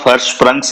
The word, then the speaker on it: Hirschsprung's: The pronunciation of Hirschsprungs is with a sha, not with a sa.